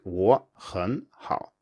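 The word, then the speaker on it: 我很好: So if you have a simple phrase like 我很好, as in I'm good, this will usually come out as two rising tones followed by a low tone in natural speech, so it's 我很好.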